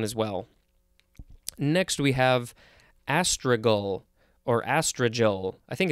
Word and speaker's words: astragal: If I didn't look at the pronunciation guide, I'd probably want to say astragal. Because it's with a G-A-L at the end.